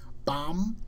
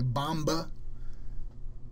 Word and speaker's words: bomb: Bomb, we never say bomba.